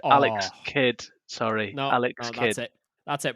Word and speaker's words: Alex Kidd: say alex the kid i did just say alex the kid alex kidd sorry no alex that's it we're canceling the